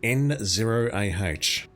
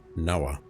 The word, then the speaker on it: Noah: Oh no, I was pronouncing that as N ah Noah.